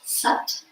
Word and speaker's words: sat: S s a t pronounced sut and then numb like